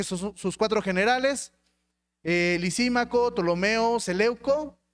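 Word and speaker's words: Ptolomeo: El tercero es Tolomeo, que se escribe P. Tolomeo se posicionó de Egipto,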